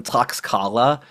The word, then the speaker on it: Tlaxcala: And they formed alliances of these people who hated the Aztecs, like the Tlaxcala, which is, I used to pronounce them Tlaxcala, which is unpronounceable.